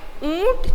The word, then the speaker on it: ऊंट: तो यहाँ चंद्र बिंदु है, इसलिए हम लोग इसका उच्चारण नाक से करेंगे, ठीक है। ऊंट चला, ठीक है।